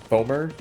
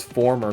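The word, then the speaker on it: Fomor: I think it's like foamer, I think is the word. They're like the enemies of Mabinogi. It's not a bad word, I just don't know how to pronounce it. I thought it was former for the longest time until I realized there wasn't an extra R.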